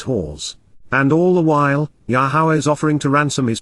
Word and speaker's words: Yahowah: For thus says, Ky Koamar, Yahowah, Yahowah, the proper pronunciation of Yahowah, our Eloah, God has